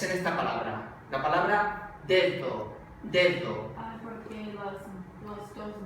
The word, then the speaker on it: dedo: Pronuncio la D normal, la que sería oclusiva, D, y luego uso la segunda, es fricativa, dedo.